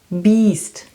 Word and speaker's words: Biest: But if you put an E behind the I, then it's a long one, beast.